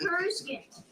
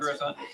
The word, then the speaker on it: Coruscant: I'm used to saying Coruscant. All right. Not Coruscant. Coruscant. If you mispronounce it, it's okay.